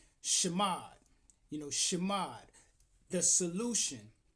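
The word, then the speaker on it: שמד: And that is spelled Hebraically with the shin, the mim, and the dallet. Shamad is a Hebrew root word pronounced shamad which means to destroy,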